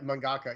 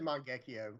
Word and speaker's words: mangaka: uh mangaka mangaka yeah mangaka yeah I always said mangio like a shingan I was I was butchered that but yeah mangaka how you say it watch yeah we westernized it but they they know